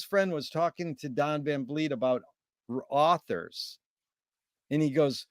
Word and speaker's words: Van Vliet: Don Van Vliet.